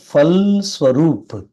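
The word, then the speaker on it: फलस्वरूप: பல்னா பலம் ஸ்வரூப்பு இஸ் இது ஒரு எழுத்தினுடைய பாதி வடிவம் மட்டும் வந்துச்சு அப்படின்னா அதை மெய்யெழுத்தாக உச்சரிக்க வேண்டும் அப்படிங்கறது விதி அதனால இங்க பல் ஸ்வர்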